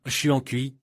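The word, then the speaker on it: 传祺: Mais la légende, Trumpchi, ressemble à Xuancui en chinois.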